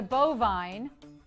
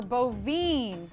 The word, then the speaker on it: bovine: A cow is a bovine or bovine. Yes. Weirdly, this one can be pronounced either way.